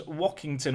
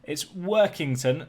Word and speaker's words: Workington: As for us, we've got Workington, which I believe I said was Wockington or Wokington earlier. It's Workington, like WorkTheSpace.